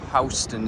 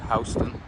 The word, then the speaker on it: Houston: This is Houston Street. They call it Houston instead of Houston, even though it's spelled like Houston as in Houston, Texas.